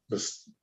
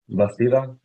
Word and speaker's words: Bastida: Bastada, right? I'm sorry, Your Honor. Bastada. Bastille, yeah. How do you pronounce the first name? The end part of the last name? Bastida.